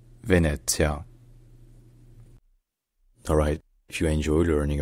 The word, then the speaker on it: Venezia: This name is the Italian name of Venice, a city known for its unique cityscape built on canals.